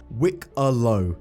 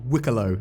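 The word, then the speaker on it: Wikelo: a live build obviously cig did confirm the Banu collector's pronunciation of their name Wick Alo that wicko that's how you pronounce their name at least that's how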